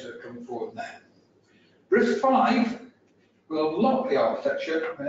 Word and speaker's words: RISC-V: Essentially, it's RISC-V is it is RISC-V, not RISC-V, if some people might mispronounce it.